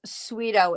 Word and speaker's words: Tsuido: And the yarn name is Sweeto. It's spelled Tsuido, and it's a bulky.